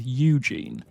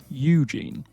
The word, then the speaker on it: Eugene: you, because this is Eugene. Eugene. Now think of it like you're speaking to a lovely lady called Jean, and you say, "I love you, Jean."